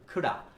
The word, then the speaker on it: could have: এই could have কে আমরা কি বলবো? খুড়া।